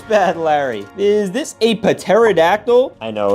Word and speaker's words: pterodactyl: Is this a pterodactyl? I know it's pronounced pterodactyl. The P is silent.